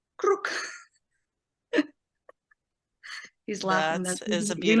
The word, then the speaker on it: Krruk: Please Krruk. share it. Druk? Krruk. Krruk. Krruk. Can you spell that or the closest Krruk. spelling? K-R-O-O-K. Roll the R.